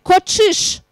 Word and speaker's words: кочиш: Че с двумя точками произносится как ч-ч-ч-ч. Да, как в слове кочиш.